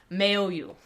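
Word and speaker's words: Maoyu: And the third one I want to talk about as being awesome is Mayo. At least I think that's the pron correct pronunciation. M A O Y U.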